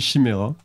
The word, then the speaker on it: Chimaira: Ça se prononce comme ça, moi j'ai toujours dit Chimera.